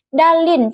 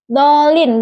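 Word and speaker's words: الضالين: Kesalahan yang sering terjadi pengucapan dal seperti dal sehingga terdengar seperti dalin. Contoh bacaan benar dolin dengan dal yang memiliki getaran jelas.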